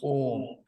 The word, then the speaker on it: Om: So, Om, we need to keep in mind that it's made of three letters. The syllable is made of 3 letters. A, U, Ma. And this is how the Sanskrit works. So, A, U, Ma doesn't become it becomes Om.